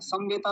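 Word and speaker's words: समवेताः: थ पले मुझे लगा समवेता बोला समवेता समवेता नहीं समवेता म पूरा रखेंगे समवेता जी आचार जी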